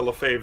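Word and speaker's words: Lefebvre: there you go fave there you get the Lafave that nobody can spell it's uh for those of you on audio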